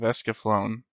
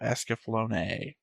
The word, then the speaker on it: Escaflowne: I'm and we're back with another episode of The Visions of Esaflone.